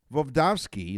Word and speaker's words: Voevodsky: Voevodsky is his name, because I mispronounced it the first time, studied the effects